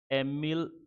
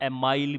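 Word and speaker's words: Émile: एक फिलोसफर हुए थे जिनका नाम था एमिल, या एमाइल भी कहते हैं कुछ लोग, दुर्खिम।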